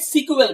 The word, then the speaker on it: SQL: এখনো আপনি খেয়াল করলে দেখবেন অনেকে এই যে এসকিউএল টাকে সিকুয়েল বলে। বেসিক্যালি এই সিকুয়েল উচ্চারণটা কিন্তু SEQUEL থেকে আসছিল, বাট সেটাকে লেটার অন ট্রান্সফার করা হয় স্ট্রাকচারড কোয়েরি ল্যাঙ্গুয়েজে।